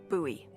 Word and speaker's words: Bowie: And then all of a sudden, with no warning, he pulls out this huge rusty Bowie knife. It's actually pronounced buoy.